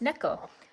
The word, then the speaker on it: Neko: Yeah, no, it's Neko. Like Neko Cat, like nya.